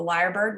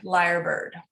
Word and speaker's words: lyrebird: that i'm talking about a bird called the liar bird which is in australia um and it's spelled yeah cassandra knows do you have you